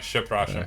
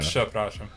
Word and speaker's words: przepraszam: I don't think I was putting the P sound at the beginning.